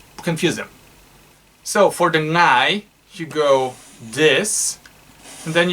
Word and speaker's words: ngai: It's ngai, N-G, it's spelled ngai.